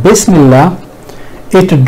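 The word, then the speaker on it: بِسْمِ اللّٰهِ: At other places where ism is used, even in Quran, alif is remained in writing although not pronounced, but in Bismillah it drops in writing as well, and usually it is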